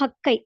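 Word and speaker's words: はっかい: 8ன்றதுக்கு ஹச்சிக்கு பதிலாக ஹக்கை அப்படின்றது பயன்படுத்தப்படும்.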